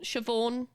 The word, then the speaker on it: Siobhan: Uh it's an Irish name and it's Shio Shioone. Siobhan. You pronounce it like shorn. I think something like that.